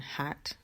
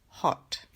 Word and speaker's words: hot: hot o hot bueno aquí los americanos pronuncian hats con una pero en inglés británico es hot hot luego blog blog